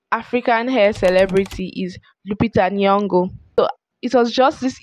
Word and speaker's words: Nyong'o: So the next African hair celebrity is Lupita Nyong'o. So it was just this evening when I was researching, I found out the real pronunciation of her surname. I used to call her surname Nyong'o instead of Nyong'o.